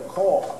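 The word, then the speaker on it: caul: going to use this as a call. They call this a call. Like when you call somebody, but it's not spelled like that. It's spelled C-A-U-L.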